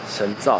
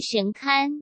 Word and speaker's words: 神龕: 个神龛，神造还是神龛，那个字到底怎么念，是神龛啊。